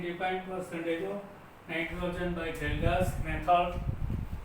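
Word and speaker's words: Kjeldahl: Using this formula we can define percentage of nitrogen by Geldas method. Here K is silent, we have to write K, but in Geldas method is not applicable to compound.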